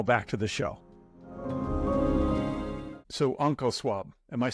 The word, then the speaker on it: OncoSwab: So OncoSwab, am I saying it right?